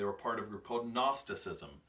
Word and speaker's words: Gnosticism: part of your potent Gnosticism that's what the G it's got silent G good Gnosticism okay if you want to pronounce it funny but these were actually